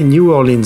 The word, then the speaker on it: New Orleans: au moins de nom c'est la nouvelle orléans prononcé new orleans en anglais mais attention ce n'est